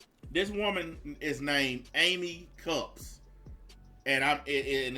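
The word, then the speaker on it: Kupps: these all right this woman is named amy cups and i'm it and it's spelled k-u-p-p-s i didn't want people to think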